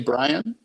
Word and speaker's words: Bryon: And one of Brian, his name was Bryon, Bryon. Brian. You wouldn't just say Brian? Yeah, I think it's Brian, but it's spelled Bryon. But it's spelled the wrong way.